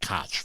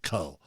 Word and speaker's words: Koch: Here we have one going out to Co Industries. I used to always pronounce it Koch, but it's actually Co.